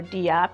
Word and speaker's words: DApp: So once a decentralized app, or a DApp or DApp, depending how you want to pronounce it, is created and run